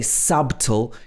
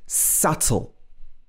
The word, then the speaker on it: subtle: small that's what it means we don't say subtle it's subtle have you ever pronounced that one wrong another common pattern is